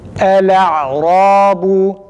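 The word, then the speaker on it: الأعراب: Lamı net bir şekilde fethalı okuyoruz arkadaşlar.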